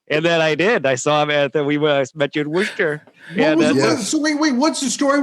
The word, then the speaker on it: Worcester: Is that how you say it? Worcester. Worcester. Worcester. Yeah. I thought it was like a sh in there. There's not.